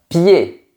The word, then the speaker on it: pied: Par exemple, un pied. On ne dit pas un pied, on dit un pied.